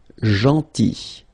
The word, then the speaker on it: gentil: Then gentil. So remember this final L is not pronounced. Gentil, gentil, and it's nice or kind.